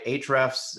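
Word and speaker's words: Ahrefs: things first of all I want to clarify H refs it starts with an a correct HF so for for listeners who want to go check it out that's how you spell it um it's it's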